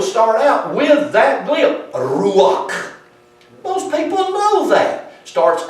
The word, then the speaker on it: ruach: If I were to tell you how to say the word spirit in Hebrew, I would start out with that glyph, ruach.